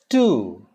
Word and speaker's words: two: Two. It's not two. There's no W. It's T-O, T-O-O, and T-W-O. All are same. T-O, T-O-O, and T-W-O. Similar pronunciation. Two.